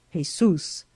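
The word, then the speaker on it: Jesús: shocked to hear that his name was Jesus pronounced in Spanish Jesus h e z o o s by which latter appalation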